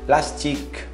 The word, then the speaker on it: plastique: Plastique, plastique, um ar saindo no Q. Esquece o E no final.